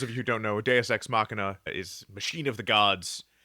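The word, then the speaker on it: deus ex machina: XM could have yeah sworn some people say do exmachina if they do they they're saying it wrong listeners jump on our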